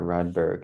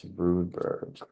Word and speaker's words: Rudberg: wrong for so long it's not redberg it's rudberg are you a real